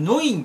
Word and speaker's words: Neun: のことを意味するノインと読むそうです。